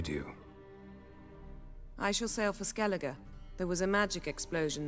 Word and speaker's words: Skellige: Okay, so it's pronounced Skellige. I'm so sorry that I had mispronounced it before. I may mispronounce it again.